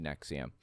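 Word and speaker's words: NXIVM: really famous people in Nexium too it it's spelled NX I VM by the by NX I VM it's pronounced Nexium so anyways um the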